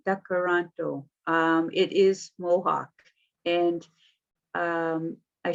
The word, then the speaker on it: Tkaronto: Tkaronto, it's a D, not a T. Tkaronto.